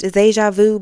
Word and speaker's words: Zajavuu: It's pronounced Zajavuu, but you can call me. Just say. It's okay. I be meeting y'all in person, and y'all be trying so hard to say my Instagram name.